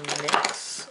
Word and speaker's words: NYX: and this is from nyx or x as some people pronounce it and this is the